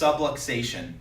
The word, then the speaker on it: subluxation: for what it means and this word is pronounced subluxation so I want to explain exactly what that